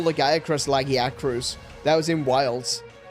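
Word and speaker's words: Lagiacrus: in wild like it when you listen to the Japanese developers talking about legac they call it lagier right so it's still laggy at the beginning instead of lega which is how I say it but it's legac in the game is laggy acruus and it's like no I can't believe they made that official.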